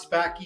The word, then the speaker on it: Spackey: Well, actually, most people get Spackey wrong, too, and have all my life. But is a very Sanskrit name. So, but you got them both right. is how you pronounce that, and Spackey is